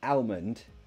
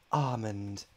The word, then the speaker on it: almond: almond okay yes so there are two ways to pronounce this I say almond because I'm a normal person some people will be like almond I mean yeah yeah that's I mean that's what the dictionary will tell you to say but if